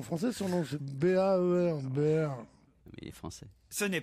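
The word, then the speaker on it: Baer: Mais non, ça s'écrit pas en français, son nom c'est B-A-E-R. Baird.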